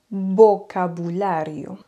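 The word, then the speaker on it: vocabulario: exemple la bombille l'ampoule mais si le V ou le B est placé au milieu d'un mot qui ne demande pas beaucoup d'effort le son est toujours bas mais il est moins prononcé par exemple vocabulio vous voyez vocabulio le B de Bou il est pas trop accentué vocabulio et un autre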